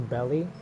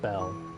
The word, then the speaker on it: Belle: Nah, this is literally I just realized calling her belly. Come on. Come on. Come on. Come on. Belle.